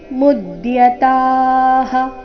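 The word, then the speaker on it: ಮುದ್ಯತಾಃ: ಯದ್ರಾಜ್ಯ ಸುಖಲೋಭೇನ ಹಂತುಂ ಸ್ವಜನ ಮುದ್ಯತಾಹಂತುಂ ಸ್ವಜನ ಮುದ್ಯತಾಹ ಮೂಮೇಲೆ ಆಘಾತ ಮುದ್ಯತಾಹ ನೋಡೋಣ ಪೂರ್ತಿ ಶ್ಲೋಕ ಅಹೋಬತಮಹತ್ಪಾಪಂ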